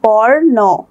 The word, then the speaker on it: বর্ণ: যেমন দেখি বর্ণ, বর্ণ, নয়ের উপরে রেফ, তাহলে এটার উচ্চারণটা কি হবে বর্ণ, রটা মাঝখানে উচ্চারিত হচ্ছে।